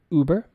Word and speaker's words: Uber: The pronunciation here is Uber.